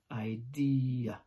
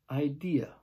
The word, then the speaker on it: idea: house so ID okay three syllables stress on the second syllable final letter is an A not an R idea thanks for watching don't